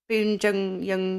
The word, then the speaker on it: Bong Joon-ho: And it's directed by him who did Parasite, whose name I can never pronounce. Bong Joon-ho.